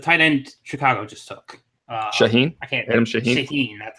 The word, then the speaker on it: Shaheen: Shaheen. You'll hear everyone butcher it everywhere. They're like Shahan, Shaheen.